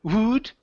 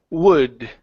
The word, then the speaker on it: would: would open your mouth instead of saying woot okay the word is what would would all right all